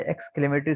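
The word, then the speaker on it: exclamatory: और इसके बाद है एक्सक्लेमेटरी सेंटेंस, इससे इससे हम ब्रिटिश ब्रिटिश इंग्लिश में पढ़ते हैं एक्सक्लेमेटरी।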